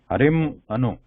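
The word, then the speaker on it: हरिम् अनु: Because it cannot be pronounced like an Anuswara, it turns into Ma sound here, like half Ma. Harim Anu.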